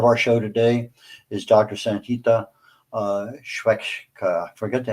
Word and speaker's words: Sangita: Uh my first name pronounced as Sangita and uh the switcher is not my last name.